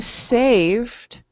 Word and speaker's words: saved: And when he came to saved, okay, remember, you say the verb, save, and then you just mention or pronounce the D.